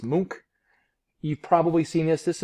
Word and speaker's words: Munch: let me know uh mook it's not pronounced munch it's mook you've probably seen this